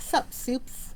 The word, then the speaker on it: Soups: think is funny cuz it just sounds like like soup like you eat the food soup but they spell it like s u PES so it's like sup soups and I'm like I